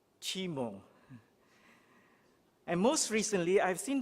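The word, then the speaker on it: CIMO: pronounce cmio but sometimes we hear the term c-i-m-o which i suppose is pronounced as chimo and most recently i've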